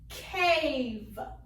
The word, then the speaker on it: cave: Next one, same thing. I have 2 vowels. I have an A and an E. First vowel is long. It will say A. Second one is silent. We don't hear it. The word is cave.